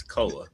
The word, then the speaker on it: Koa: say his name right. It's Koa. Is it Koa? What did I say? Koi Koi, Pete? like he's a fish. Because it looks like koi. It looks more like koi than koa.